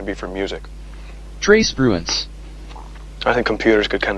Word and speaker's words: Spruance: Trey Spronce is an animal here, and I'm pretty sure I'm mispronouncing his name. Well, I'm Trey Spruance.